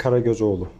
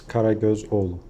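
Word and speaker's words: Karagözoğlu: Can you give us a pronunciation of your name? Of course, please? Karagozoglu. Okay. It's very easy. Could you do it one more time? It's Karagozoglu.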